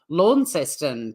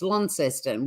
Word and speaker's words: Launceston: My pronunciations are all over the place. Yeah, it's hard. I mean, people say Launceston, but if you live in Tassie, it's Launceston.